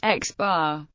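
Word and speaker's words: x̄: x2, xn is often denoted by placing an overbar over the symbol, e.g., pronounced x bar.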